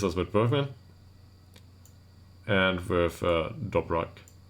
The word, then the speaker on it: Dobrak: So that leaves us with Bergman and with Dobrak. And yes, it's pronounced with a K.